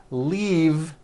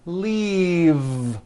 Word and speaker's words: leave: glove alive and leave this last word leave is very different from the word leaf like from a tree which has an unvoiced f the word is leave with a voiced V keep the voice in going throughout the whole word and voice the V